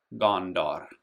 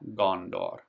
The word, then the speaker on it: Gondor: And actually, you would say it Gondor. Kind of like the A in law, law. Gondor.